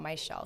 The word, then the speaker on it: Mizziel: So I have two Z's in my name, but it's pronounced like SH. So whenever I introduce myself, I say, oh, it's your shell, not my shell.